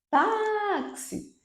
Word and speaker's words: táxi: Táxi, táxi. O tá é a sílaba tônica.